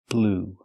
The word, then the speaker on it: blew: In the past, blew. That's right, just like the color blue, the pronunciation is the same.